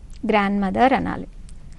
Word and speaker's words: grandmother: in the spelling of grandmother d grandmother so day silent jayalik grandmother asked me